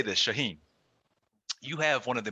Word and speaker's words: Shaahin: was like what's your name i'd be like shaheen shah what i'd say shaheen they'd be like